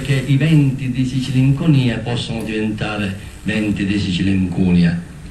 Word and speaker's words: Sicilinconia: Pampine di vigna mertecata, pampine di un albero caduto, a dire una condizione che richiama la malinconia, è vero, ma se noi spostiamo l'accento diventa Sicilinconia, Sicilincunia, d'Ancunia, l'incudine che batte il ferro e lo modifica e lo plasma, così come si può plasmare la realtà.